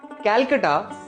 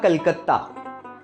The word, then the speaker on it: कलकत्ता: Kolkata, कैलकटा या कलकत्ता, Britishers pronounce नहीं कर सकते थे कलकत्ता, इसलिए उन्होंने नाम रख दिया कैलकटा।